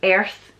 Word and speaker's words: earth: Worth, even though it's an O, it's pronounced with a U, and earth is pronounced with an E, like a strong E.